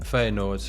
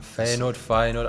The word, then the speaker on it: Feyenoord: Feyenoord. I'm sorry to all my Dutch friends. I know you're going to hate me, but I will pronounce it how English people pronounce it. Wrong. Wrong, essentially.